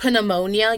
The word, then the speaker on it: pneumonia: If I get pneumonia, yes, I know it's not pronounced like pterodactyl. Anyway, if I get pneumonia, the first thing they want to do for me is do a chest x-ray.